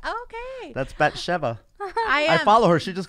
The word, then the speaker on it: Bathsheba: He loves you like David loved Bathsheba. Which I just found out how to pronounce. I thought my whole life I thought it was Bathsheba until I saw that fucking My Unorthodox Life.